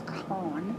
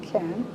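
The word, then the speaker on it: Kahn: h n e n they would pronounce it can their name was khan you know but they've pronounced it ken and they said let's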